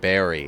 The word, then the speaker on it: Barry: Anyway, I think they want me to pronounce it Berry instead of Barry, but as an Australian, I just can't mispronounce Bazza.